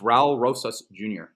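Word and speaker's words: Raúl Rosas Jr.: say his name like Ral oh it's it's Ral Rosas Jr that's like the easiest okay you should be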